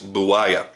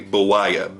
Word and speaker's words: Buwaya: What we're looking at here is the Burr Knives Buwaya. And I'm hoping I'm pronouncing that correctly. Buwaya.